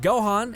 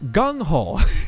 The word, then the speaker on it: GungHo: If Gohan and sorry, so sorry. When I read something the first way, it's stuck in my head. GungHo is how it's pronounced.